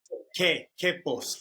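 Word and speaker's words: Quepos: the town correctly yeah you don't pronounce the U so it's K Kos I knew that what's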